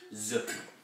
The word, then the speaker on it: Zuki: Combined with another word, Tsuki is often pronounced Zuki, as in Gaikazuki, or reverse punch.